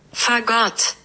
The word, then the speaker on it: Fagott: Also, by the way, it's not pronounced the same. Fagot. Say it with me, kids! Fagot. And that's how you say it. So, notice the emphasis is on the second syllable, right? Rather than the first.